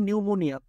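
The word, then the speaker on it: pneumonia: আমি রিপিট করছি, প্রথমটা খেয়াল করেন, শুরুতে পিএন, যেমন নিউমোনিয়া, পিএন আছে, তাই তো, পিটা সাইলেন্ট থাকবে।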